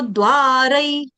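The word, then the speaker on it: द्वारैः: अब द्वार के आगे जो उसके ऊपर मात्राएं दो हैं तो उधर उच्चारण कर दो, रई। तमो द्वारई, यहाँ तक द्वार, तमो तमो द्वार, द्वारई।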